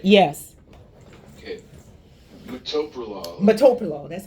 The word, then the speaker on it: metoprolol: Metoprolol.